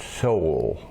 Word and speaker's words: Seoul: Americans never pronounce that right. Seoul. It's Seoul, South Korea.